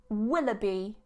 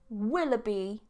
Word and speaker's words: Willoughby: of you guys need to know how to pronounce surnames Willoughby Willoughby Willoughby dr.